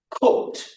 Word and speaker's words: cooked: walk T walked and all of those Ed those Ed endings take that T sound because the verbs like wash like relax they all end in one of these sounds the Sha C CH s or X now the most common